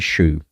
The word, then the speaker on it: Shew: Davidson, from story by Edward Spencer Shew. That's spelled S-H-E-W, by the way, not S-H-O-E. Just in case anyone my odd pronunciation.